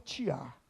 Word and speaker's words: tear: Quando eu digo tear, você sabe do que eu estou falando? Tear? O que é isso, pastor? Aqui em Minas a gente fala tiar.